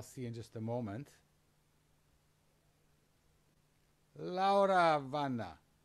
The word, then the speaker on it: Laura Vana: Laura Vana. How did I get your name this time? Almost correct. You want to pronounce it for the audience? Yes, so I call myself Laura Vana.